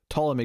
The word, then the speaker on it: Ptolemy: guess he pronounced that it's got the pt to start i i always struggle i think it's asylum p usually silent p see legions messed me up here because the character in that was plutonomy yeah i think usually it's a silent p well then okay ptolemy